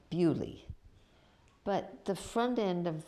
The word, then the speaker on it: Beaulieu: And I remember going to see one that's called, if you pronounce it right, it's Beaulieu, but they call it Bewley.